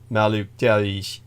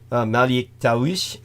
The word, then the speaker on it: Malik: my uh possession by malish all right um take his care I'm getting so sleepy now I'm mispronouncing my Arabic Malik of course is the correct name for uh the luciferin angel